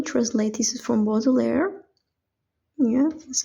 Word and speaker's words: Baudelaire: This is from Baudelaire.